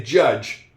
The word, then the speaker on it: judge: And the D, this, in this case, it's really a silent D because I don't hear it. When I say judge, I don't hear a D at all. And I don't say it when I say the word judge.